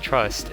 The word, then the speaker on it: TR/ST: TR/ST, though pronounced Trust, is another Canadian project formed by singer and musician Robert Alphonse.